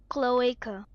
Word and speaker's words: cloaca: of what the internet Thanks here's how it's pronounced according to the Internet okay cloaca all right so now you know that's how